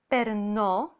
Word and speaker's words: περνώ: Also, the verb παίρνω is stressed in the second from the end syllable, so it belongs to the first conjugation verbs, while the verb περνώ is stressed in the last syllable.